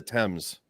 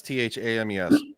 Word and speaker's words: Thames: you guys hate the French well it's it's pronounced the Thames I know there's a French princess yeah no yeah it's t-h-a-m-e-s yeah but it's the the Thames so no